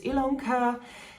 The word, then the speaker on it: Ilonka: For the new ones, my name is Ilonka, and that's why my channel is called Stitchilonka. Yes, it's spelled with an I but pronounced with an E.